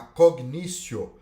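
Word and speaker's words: cognitio: um juiz unidades para julgar outro poder a cognício escreve fala-se com Vinícius mas escreve-se cognitivo é igual Yuri sdc mas a gente pronuncia no nosso latim jurídico e o dicciol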